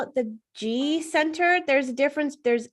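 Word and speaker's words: Ji: And what I remember most from her is that she said, it's G center spelled J-I, as you know, you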